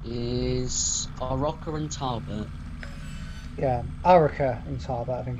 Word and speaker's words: Arrochar and Tarbert: Yeah, Arrochar and Tarbert, I think it's pronounced. Arrochar and Tarbert, yeah.